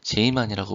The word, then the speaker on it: 제이만: 자, 그렇다면 지만 효과에 대해서 또 간략하게 말씀드리면, 이제 피터리 제이만, 이제 네덜란드 사람으로, 이제 네덜란드식 발음으로 이제 제이만이라고 보통 불러진다고 합니다.